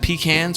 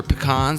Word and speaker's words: pecans: Then we have pecans or pecans. There's no right or wrong way to pronounce this nut, but it's one of